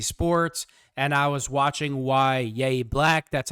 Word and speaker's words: Yahya: Last night, late last night, I was watching Chalk Talk by DK Sports and I was watching Yaya Black. That's how you pronounce his name.